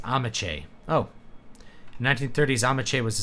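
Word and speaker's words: Ameche: to see you again amesh is pronounced amache oh 1930s amach was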